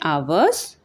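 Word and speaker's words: hours: Begins with the letter H what the एच is silent. There for वी से एन आवर्स an honest man.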